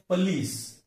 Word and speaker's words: police: इसका सही उच्चारण है पुलिस। सेकंड सिलेबल पर स्ट्रेस है, लेकिन हम गलती से उसे पुलिस कहते हैं, और सही क्या है?